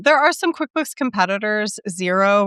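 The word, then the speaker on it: Xero: Zero, which is spelled XRO, is one.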